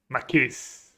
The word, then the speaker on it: Makis: I mispronounce your nickname, Makis. Is that how you say it? You have to teach me next time. Oh yeah, the tone goes on the first syllable. Makis.